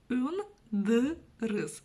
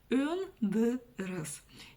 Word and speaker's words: Өндіріс: Өндіріс. Очень тяжело после мягкой гласной, после буквы «ы» это читать, да? Өндіріс. Если мы прочитаем через букву «и», что будем? Пробуем. Өндіріс. Кстати, мягко вроде, но тоже твердо читается.